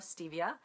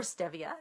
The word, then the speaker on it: Stevia: our free challenge for learning to love Stevia or Stevia depending how you say it and uh there